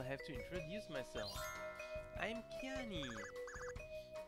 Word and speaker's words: Kiani: I'm Kiani. It looks like Kiane, but it is actually pronounced like Cayenne, the pepper, or like Cheyenne, Wyoming, Cheyenne, Wyoming, but without the H and without the Wyoming.